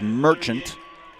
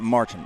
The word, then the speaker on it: Merchant: had someone type in its last name is pronounced Merchant okie doke not Martin but we want to